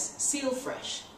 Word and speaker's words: Seel Fresh: to MC known as seal fresh it's spelled s-e-e-l that's clever all right he's